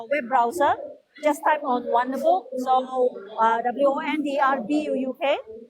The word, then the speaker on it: Wonderbuuk: Just type on Wonderbook, so WONDRBUUK. So the difference of book is BUUK book. So it's a significant meaning from Bahasa Kedaton. So it represents book. Okay, so we pronounce a book.